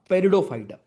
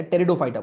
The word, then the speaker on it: टेरिडोफाइटा: Then third we have पेरिडोफाइटा, यहां लिख रहा हूं। थर्ड इज पेरिडोफाइटा, इसकी स्पेलिंग पी से स्टार्ट होती है, पेरिडोफाइटा या टेरिडोफाइटा बोलते हैं।